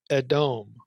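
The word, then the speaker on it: אדום: Now, in Amos 9, Edom, if you know a little Hebrew, is spelled Aleph, first consonant, Dalet, Mem, and given an E and an O vowel, Edom.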